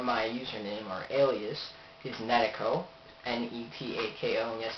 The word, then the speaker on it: Netako: the website however my username or Alias is netico and KO yes it's pronounced netico I just haven't really gone through to find